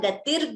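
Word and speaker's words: गतिः: Gurureva gatihi gurumeva bhaje. So we combine the sandhi and chant it as Gurureva gatir gurumeva.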